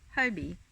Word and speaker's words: Hobbii: so my review of Hobie or hobby depending on how you want to pronounce it Tiffani's excel young a